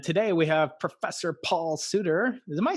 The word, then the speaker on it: Sutter: And today we have Professor Paul Sutter. Am I saying it right, Paul? It's Sutter like butter with an S.